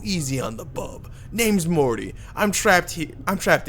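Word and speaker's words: Morte: It's pronounced Mort. The E is silent.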